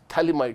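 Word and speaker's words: phthalimide: ये है थैलीमाइड। थैलामाइड भी हो सकता है अगर खाली एक से NH2 लगा देते हो, पर यह है थैलीमाइड, PH साइलेंट है।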